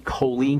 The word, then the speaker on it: choline: important for building bile the nutrient choline and that's spelled ch h o l i n e choline can help maybe 200